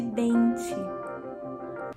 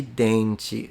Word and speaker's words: dente: Pasta de dente. Pasta de dente. So I'm noticing in the Brazilian variety, the D is pronounced like a J. So together with the T pronounced like a Ch, if I was right,